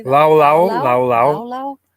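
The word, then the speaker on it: laulau: Lao lao, Lao lao lao.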